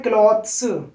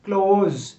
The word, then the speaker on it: clothes: ES लगाएंगे तो आप बोल रहे हैं क्लॉथ्स, ये क्लॉथ्स नहीं होता, CLOTHES। ES लगने के बाद इसको बोलते हैं क्लोज, जैसे आप बोलते हैं ना ओपन क्लोज, तो इसका प्रोनाउंसिएशन होता है क्लोज, जो कपड़े होते हैं क्लोज।